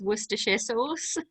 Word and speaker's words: Worcestershire: your viewers um if you ever need to pronounce worcestershire sauce it's worcestershire sauce just so you know no that's how you